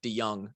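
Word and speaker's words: De Jong: dms he's from pella he's got a weird pronunciation it's it's spelled d-e-j-o-n-o-n-g but it's nick de young at right tackle those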